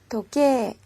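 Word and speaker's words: 時計: 우리말로 시계 라는 뜻이 독해 이라고 쓰지만 발음은 도깨 요렇게 그리고 우리 말로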